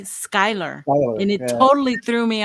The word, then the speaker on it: Schuyler: way it's messed me up with Schuyler Virginia it's spelled Schuler Schuler s-c-h shooter but they say Skyler and it totally threw me off yeah the